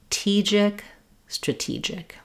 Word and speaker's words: strategic: For words that are stressed on the second or third syllables, it can be helpful to start on that syllable and then build your way back. That would sound like TEE-gic, stra-TEE-gic. If these STR combinations give you difficulty, start with the R.